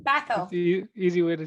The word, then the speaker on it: Bhathal: And we have our divine friend, Gagan Bhathal. Bhathal. Yes. Last name, say it again, Bhathal. Uh, Bhathal. It's Bhathal.